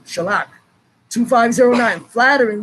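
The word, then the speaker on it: חָלָק: think it's sha okay spelled c h a l a q to the same of the k sound c h a l a q shellac two five zero nine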